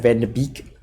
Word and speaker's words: Van de: Especially that now that we have Van de Beek. That's how you pronounce it.